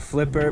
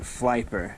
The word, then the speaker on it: Flyper: So this is the Flyper, which I originally thought was called Flipper, but they're pronouncing it Flyper.